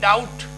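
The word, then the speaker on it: doubt: बी चुप हो जाएगा डी ओ यू टी डाउट तो यहां पे ये छूट गया आपका इसका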